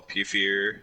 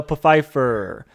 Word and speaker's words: Pfeiffer: michael douglas and michelle puffier so basically oh you did not just pronounce that wrong michelle pfeiffer catwoman sorry but they